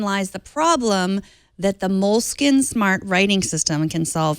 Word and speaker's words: Moleskine: The ones we used to call Moleskine to feel Italian and smarter than everyone else before we realized they were, in fact, pronounced moleskin, like the rodent.